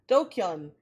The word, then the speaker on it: DQN: DQN uh pronounced do uh dokun a thug bully or someone who's part of the dregs of society.